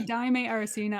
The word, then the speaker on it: Daymé Arocena: Daymé Arocena? Yeah, you I know, say Daimé Arocena.